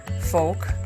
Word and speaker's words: folk: not sound like break folk rhymes with poke fiance with one e